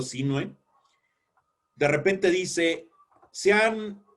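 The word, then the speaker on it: Sinhue: El gobernador Diego Sinue, y digo Sinue porque no lleva acento en la E. Si llevara acento en la E sería Sinue, pero como no lleva acento en la E, es Diego Sinue.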